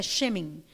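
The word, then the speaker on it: שמן: La palabra óleo es la palabra shemen, se pronuncia shemen, que es grasa líquida, es de olivo, o sea, es aceite perfumado, básicamente.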